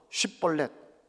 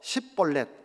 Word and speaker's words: 쉽볼렛: 강을 건너려고 하는 사람이 있으면 너 쉽볼렛 발음을 해봐 했습니다. 그래서 쉽볼렛 못하고 십볼렛 하면 쳐서 죽였습니다. 에브라임 사람들은 쉬 발음을 못하고 그것을 시라고 합니다.